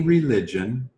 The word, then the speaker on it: religion: You can practice any religion or not practice a religion. It's your choice. Exactamente. De nuevo, religión y religion se escriben igual.